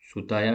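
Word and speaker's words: 蔦屋: Publisher like, अब ये नाम जो है वो काफ़ी अलग है तो इसलिए इसको यहाँ से लिखा है, त्सुताया जुजाबुरो। सुताया टी साइलेंट है, सुताया जुजाबुरो identified subject and commissioned artist who Drew the theme in outline.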